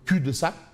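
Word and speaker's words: cul-de-sac: cul de sac bon le L ne se prononce pas cul de sac voix de garage.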